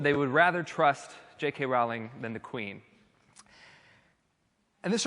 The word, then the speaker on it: Rowling: Rowling, or I think Rowling is the proper way to say it, or Queen Elizabeth?